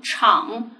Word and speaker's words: 敞: 后鼻音母发音了，昂敞敞呢是一个左右结构的一个生字。